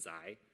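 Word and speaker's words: ξ: variable which i call zai right so this is that greek letter it's pronounced zai in my opinion it's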